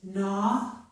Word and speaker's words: gnaw: But at the beginning of a word, if we have G plus N, the G is silent. So we hear only the N sound. This is gnaw.